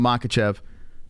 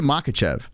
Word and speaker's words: Makhachev: you say his name I say makachev but I think it's mahatchev I think that's the proper way of saying it the year of 2023